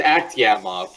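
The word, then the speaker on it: Akhtyamov: Yeah, it's Aktiamov, but whatever.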